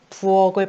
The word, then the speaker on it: 부엌: 이 부엌을 발음하려고 해요. 발음하면 부는 받침이 없으니까 그냥 그대로 이렇게 적으면 되겠죠. 근데 억 같은 경우에는 굉장히 거슬리는 애가 있어요. 키읔. 그쵸? 키읔이 아니라 기역으로 바꿔줘야 되죠. 기역. 그래서 부억을 발음해 보면 부억으로 발음이 된다.